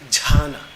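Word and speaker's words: jhāna: Because in Prakrit, in Pali language, in the language in which the Buddha spoke, dhyana is pronounced as jhana.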